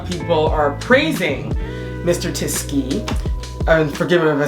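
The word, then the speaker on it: Tisci: online a lot of people are praising Mr tisky and forgiving if I say his name yeah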